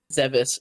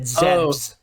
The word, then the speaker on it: Zebes: Zebes. What's the correct pronunciation? That is the correct pronunciation. I said Zebs, and he's Zebs.